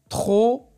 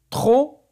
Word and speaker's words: trop: Alors, les mots sur lesquels on voit la lettre P et on n'entend pas le son P, c'est loup, quand, trop et champ.